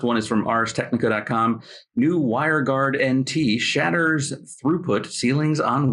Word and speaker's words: WireGuard: New WireGuard NT shatters throughput ceilings on Windows, and it's not pronounced WireGardent as one of our producers thought, which I kind of like better.